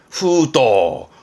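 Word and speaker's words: 封筒: 후도, 후도에서 이 후도 정도가 많이 보여지는 단어가 되겠네요.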